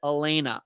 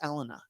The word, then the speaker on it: Elena: Elena or is it Elena? I think it's Elena. Elena. I think it's first and third syllables accented, not the second syllable, I think.